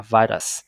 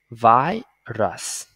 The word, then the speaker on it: virus: Rồi từ này chúng ta sẽ đọc là virus. Thì sẽ viết cái phiên âm nha, chúng ta mở từ điển Oxford lên nha. Đây là âm A I nè, A I âm I ha. Virus.